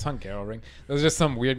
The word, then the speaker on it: Hungaroring: It's Hungaroring. It was just some weird guy. We just watched the Inside Grand Prix show they put out every week. The host, the narrator, he kept saying the Hungaroring.